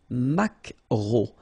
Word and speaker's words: maquereau: So technically this K, just pronounce it K, mac, maquereau, maquereau. Alright? And then E-A-U, remember when you combine these three vowels, you get the sound O, maquereau.